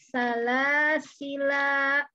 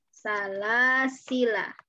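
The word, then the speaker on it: سلاسلا: Ketika wasol maka alifnya kita buang. Jadi salasila. Salah ya, salasila gitu aja. Salasila. La-nya pendek ketika wasol. Nah, ketika wakaf ini ada dua cara bacanya. Bagaimana? Yang pertama, alifnya kita buang sama seperti ketika wasolnya, ya. Salasila. Begini. Yang kedua, alifnya kita pakai. Salasila. Dipakai di sini alifnya.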